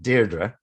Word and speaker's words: Deirdre: Well, there's lots of different pronunciations. She would pronounce it Deirdre.